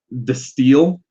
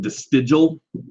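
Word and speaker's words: De Stijl: This is where we get into Destiel. It looks like Destigial, but I believe the J is pronounced more as a Y.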